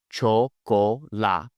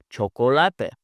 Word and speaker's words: chocolate: In English, we would say chocolate, but when I just focus on pronouncing the vowels correctly, this word now sounds like chocolate. Chocolate.